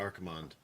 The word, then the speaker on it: Archimonde: a review of Archimonde I know somebody's gonna tell you and then it's spelled Archer Monday no no it's it's definitely Archimonde Archimonde is named after